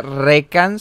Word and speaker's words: Rekanss: Bueno, o sea, si alguien tiene la duda, mi nombre se pronuncia Recans. Antes yo lo pronunciaba Recans, pero si fuera Recans tendría que tener un acento en la A.